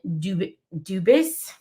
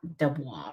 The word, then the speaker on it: Dubis: Dubis. Guys, that's Dubis, not Dubois, right? I'm not mispronouncing that.